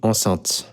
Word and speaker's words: enceinte: Ça, c'est ce qu'on appelle une enceinte. Ça s'écrit et ça se prononce de la même façon qu'une femme enceinte.